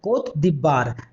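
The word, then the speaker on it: Côte d'Ivoire: नाम है कंट्री का, अभी उसका नाम हो गया है कोत दिबार। उसका स्पेलिंग इंग्लिश में स्पेलिंग इस तरह से कोटे डी ओवायर। तो याद रखिएगा इसको कि आइवरी कोस्ट था, उसका नया नाम कोत दिबार है।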